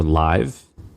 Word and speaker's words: LIV: I don't know how you pronounce it. LIV. Or Live? Wait, LIV? Yeah, just LIV.